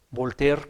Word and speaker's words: Voltaire: para terminar hermanos fíjense que un filósofo francés voltear que se escribe voltaire yo cuando estudié filosofía ya en